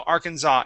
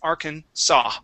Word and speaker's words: Arkansas: that uh s okay you didn't pronounce the s at the end but the that uh first s okay you'd said za so arkansas it is arkhan saw arkansas arkansas okay very good